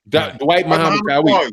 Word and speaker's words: Dwight Muhammad Qawi: they're saying is that during the Michael Spinks, Dwight Muhammad Qawi, is that how you say it? That's who it is. Yes, sir. Dwight Muhammad Qawi.